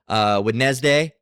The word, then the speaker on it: Wednesday: Wednesday used to be clearly enunciated Wednesday. Now it's Wednesday.